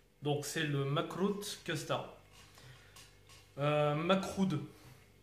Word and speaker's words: makroud: Macroud. Au niveau de la prononciation, essayez de dire Macroud parce que Macroute, ça craint.